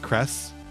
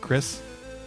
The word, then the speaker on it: Crest: neck Crest is that is that how it's pronounced Crest not Chris had to look it up that's putting it mildly